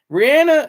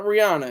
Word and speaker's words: Rihanna: Rihanna, yeah, it's Rihanna. It's not Rihanna. It's Rihanna. It's because of her accent that it sounds like Rihanna. It's actually Rihanna. That's actually how her name is pronounced.